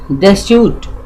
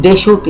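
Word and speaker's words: Deschutes: ऑन द डेस्यूट, इसको बोलते हैं डेस्यूट, आप पढ़ेंगे लेकिन डेशूट, CH का डेशूट बोलते हैं, डेशूट एंड मेटोलियस इन ओरेगन।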